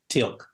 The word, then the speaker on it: Teal'c: I thought it interesting though that I'm not sure how to pronounce his name. Teal'c? Is it Teal'c? Telk? Yes, Teal'c.